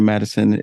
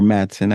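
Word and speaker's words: Madsen: room and notices that Virginia Madison is or Madson I keep saying Madison Sor sorry Virginia put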